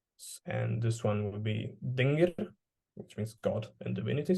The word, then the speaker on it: dingir: It means God when pronounced dingir, but it also means sky when read as an.